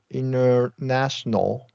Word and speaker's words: international: social, helpful, essential, international. That's exactly right. International, you can reduce that T for sure.